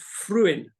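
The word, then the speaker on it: Frewin: he was one we talked Anthony fruin it's pronounced fruin fruin Anthony fruin he was one of my he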